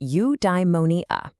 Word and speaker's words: eudaimonia: Okay, I've got a new word for you, eudaimonia. It's pronounced you-die-mo-nee-a.